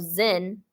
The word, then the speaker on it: Zin: into the Wilderness of zen zen zen sounds like zen zen yeah zen garden you know like Zen there's such thing as